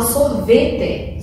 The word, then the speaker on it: sorvete: Por exemplo, a palavra sorvete, sorvete. A penúltima sílaba está mais forte, então ela é paroxítona.